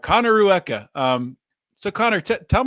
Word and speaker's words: Rueca: say your last name yes so it is Rua okay Connor Rua I would have messed that up so I'm glad I didn't try it h Connor Rua um so Connor te tell me a little